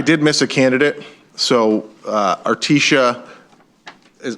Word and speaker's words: Articia: My name is Artesia, and it's spelled ARTICIA-.